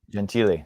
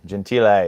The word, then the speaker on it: Gentile: Gentile. Gentile is the Italian pronunciation.